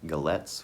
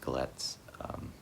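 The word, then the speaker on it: Galați: I'm in Galets, which is in eastern Romania, and it's a port city, Romania's primary port. It's spelled Galati, but pronounced Galets, more or less.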